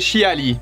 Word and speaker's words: Xia: à Sonia Devil et chiali alors c'est pareil chiali parce qu'il me semble que Xia ça se prononce chia après vous l'avez sûrement